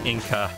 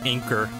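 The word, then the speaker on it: Enker: not sure if kidding since it's japanese it's pronounced more like inca well i i know but i'm saying you know they mistranslated it so it's in english it's just inker oh we get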